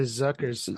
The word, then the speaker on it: Zucker: The Zuckers, That's right.